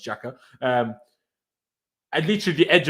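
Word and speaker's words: Xhaka: got not made by jacques you know get any closer names even though it's apparently pronounced jacker um at least the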